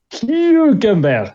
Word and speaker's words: Hülkenberg: ¿Cuál es la pronunciación de Nico? Hülkenberg, sería bien dicho.